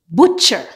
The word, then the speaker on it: butcher: Normally, when you have a word that has T before CH, the T is silent. For example, butcher, catch, match, patch, scratch, witch.